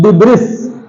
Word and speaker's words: debris: This is not debris. Here S is silent, so the word pronunciation is debris.